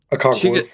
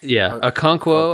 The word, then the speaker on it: Okonkwo: Okonkwo. Okonkwo.